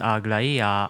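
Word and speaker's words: Aglaea: Her name is pronounced Agla, and her code name is pronounced Carlos.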